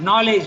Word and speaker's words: knowledge: Knowledge, for instance. Okay? Then knowledge has got two letters which you don't pronounce, K and D.